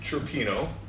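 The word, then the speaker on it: cioppino: A seafood chirpino. Did I say it right? Seafood chirpino.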